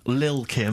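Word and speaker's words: Lil' Kim: kim but how are you pronouncing it i'm pronouncing that correctly lil kim oh no t's involved and it's the jump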